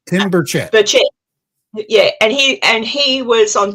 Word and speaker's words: Burchett: Burchell, is that how I say his name? Tim Burchett.